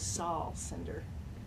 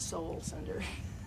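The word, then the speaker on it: Sol Sender: should point out that his name is Saul Cinder, not Soul Cinder.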